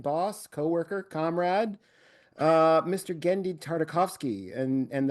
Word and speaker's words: Genndy Tartakovsky: Gendi Tardikovski. And and that in fact is how you pronounce it, isn't it, Gendi? Yes, it is. Gendi Tardikovski. Gendi because I hear Gendi.